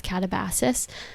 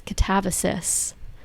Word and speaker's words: Katabasis: But I did just finish the book um Catabasis. I did see her in an interview say that she had it originally pronounced as katabasis and she learned that the correct pronunciation is catavosis.